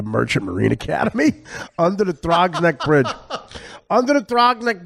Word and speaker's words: Throgs Neck: That's how you pronounce it? Trogneck? Throgs Neck. Throgs Neck? Yeah. We should go goof around like heavy rubbernecking on Throgs Neck. Yeah, Throgs. Throgs, Throgs Neck.